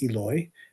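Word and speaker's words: Eloi: And the word that he used is pronounced Eloy.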